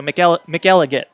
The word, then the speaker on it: McElligott: Like McElliott with a G, so McElligott.